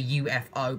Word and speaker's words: Yooefo: o so it's like it's basically other pronunciation for how you say UFO but it is a